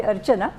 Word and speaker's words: Archana: It's actually Archana, but you are close.